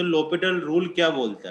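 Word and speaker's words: L'Hôpital: इसको एल हॉस्पिटल rule नहीं बोलते, इसको लोपिटल रूल बोलते हैं। ये कोई मैथमेटिशियन था, उसका नाम था, इसमें एस साइलेंट होता है, लेकिन तुम चाहो तो एल हॉस्पिटल रूल भी बोल सकते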